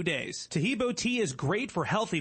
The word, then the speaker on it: Tahibo: Tahibo is spelled T like Tom, AHEEB like boy. Oh, that's Tahibo, and then continue with the word tea, and then the word club.